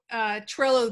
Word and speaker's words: Trello: The only thing I'll say is what I really like about Trello is it rhymes with Jello, and I love Jello.